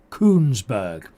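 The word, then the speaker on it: Kuenssberg: It can easily be mispronounced with a T in it. Laura Kunberg.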